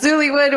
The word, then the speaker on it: Zoollywood: guys want to check that out this is zullywood which is being published by blue piper how